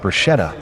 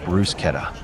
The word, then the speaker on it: bruschetta: Her party wanted to find people around $100,000 for saying bruschetta instead of Bruce Keta.